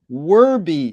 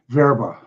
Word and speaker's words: Werbe: to today's guest werby is that the way you pronounce the last name absolutely unless you're German and then you would say verba and where in